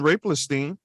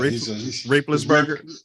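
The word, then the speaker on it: Roethlisberger: But nobody did that to Ben Raplestein. Did I say his name right? Well, Raplesberger.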